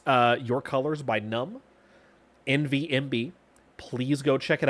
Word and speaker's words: MVNVMB: My stream BGM is a song called, I believe it's Your Colors, by the artist Numb. MVNVMB is how it's spelled.